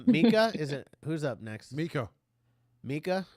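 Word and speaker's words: Meeka: Mika, am I Yeah. saying it right? That's the only way to say it.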